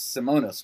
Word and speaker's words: Simonas: Did I pronounce Simonas correctly? Simonas. Very good.